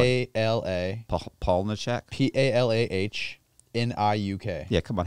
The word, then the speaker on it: Palahniuk: Chuck, I love Palahniuk. I love that guy. Well, Chuck Palahniuk, and I'm probably butchered his last name.